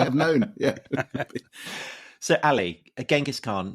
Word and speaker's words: Genghis: Well, as far as we can tell, because actually the more accurate pronunciation or rendition seems to be, and I dare say among Persian historians of the Mongol period, and it's actually Chengiz. It's a CH rather than a G.